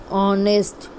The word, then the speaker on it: honest: Means H is there in spelling, but we pronounce the sound of H is not there. So, let's get started. Honest, ghost, hail, H sound is there.